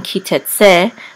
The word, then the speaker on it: Ki Tetze: right here and here in kite se the accent is on se because the trope mark